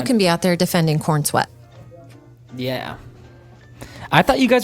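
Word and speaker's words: Corenswet: Swear to God, his name it's Coren Sweat, but it's Corn Sweat. It's pronounced Corn Sweat.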